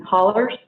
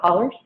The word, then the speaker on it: hollows: And so we have a saying in eastern Kentucky in the mountains, people live in hollers. If you look at the word, it's spelled out hollows, but we call it hollers.